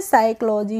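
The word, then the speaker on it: psychology: P silent होता है जब भी किसी बर्ड में एस से पहले पी आएगा तो क्या होगा पीले पी साइलेंट रहेगा कैसे रहेगा जैसे साइकोलॉजी होता है साइकोलॉजी तो यहां पे एस है और एस से पीले पी आ रहा है तो हम इसमें एस प साइकोलॉजी पढ़ेंगे नहीं इसको हम पढ़ेंगे साइकोलॉजी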